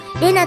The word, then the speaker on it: 礼奈: それで類なぁじゃなくて玲奈って読むのか面白い読み方だよなん違いますです名なで正しいのです美濃村も言ったのですわエナと読んでほしい一だから皆